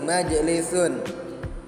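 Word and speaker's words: مَجْلِسٌ: Dan ada juga majlisun, itu jim, jimnya mati, majlisun.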